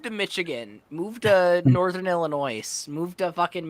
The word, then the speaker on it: Illinois: yeah you're definitely from illinois because you pronounce it wrong illinois or or correctly have you never seen a word where the s is silent illinois illinois illinois huh